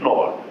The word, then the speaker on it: Knorr: It's Knorr. Knorr like the soup, as I would say in German.